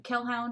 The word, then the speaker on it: Kelhound: I am Kelhound, which is spelled like Hellhound with a K.